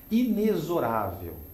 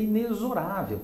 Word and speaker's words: inexorável: Inexorável, né? A pronúncia correta é inexorável e não inexorável.